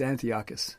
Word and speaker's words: Antiochus: I'm not sure what it rhymes with, but it's Antiochus.